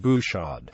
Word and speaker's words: Bouchard: Such names may be mispronounced by non-French speakers, for instance the R sound and silent D of Bouchard and GT, Bourode.